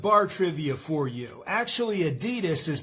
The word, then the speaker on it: Adidas: Today I'm going to be reviewing this Adidas ab wheel. Now here's a bit of bar trivia for you. Actually Adidas is pronounced adidas.